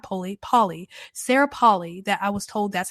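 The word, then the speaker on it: Polley: apparently her last name not Polly Polly Sarah Paulie that I was told that's how you pronounce her name because I was saying Poli because it's spelled p-o-l-l-e-y and I'm weird when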